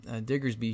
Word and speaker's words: Diggersby: be playing a 3-1 line of Bunnelby and Diggersby here, or how do you pronounce his name?